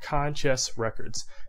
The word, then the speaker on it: Conchess Records: And the other subsidiary is actually a record label called Conchess Records.